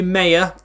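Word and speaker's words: Maher: goal Otis Khan Jasper moon nalma it's actually pronounced Mar as well I have looked it up I've been told in the comments maybe Maya it's pronounced ma with Walsh and Glennon Clifton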